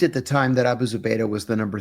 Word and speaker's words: Zubaydah: So Abu Zubaydah, I know I said his last name wrong. Zubaydah.